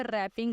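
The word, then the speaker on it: wrapping: अब अगेन देखें, अब यहाँ पे रैपिंग आया, मतलब यहाँ पे हमारा डब्ल्यू जो है वो हमारा यहाँ पे साइलेंट है, तो आपने डब्ल्यू के ऊपर लाइन लगा देनी है, ठीक है।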